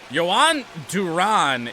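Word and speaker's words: Jhoan Duran: So, Yohan Duran is the pronunciation there.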